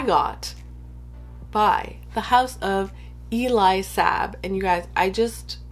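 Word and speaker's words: Elie Saab: by the house of eli sabb and you guys i just recently learned that i've been saying it wrong all this time so yeah it's apparently it's not ellie sab it's eli sab maybe it's not even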